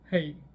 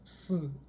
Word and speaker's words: 呬: lung is this character in The wo dialect it is pronounced as hey in mine it is s it is indeed a